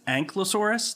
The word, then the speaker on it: Ankylosaurus: However, chapter 3 comes along, and I think it's Ankylosaurus.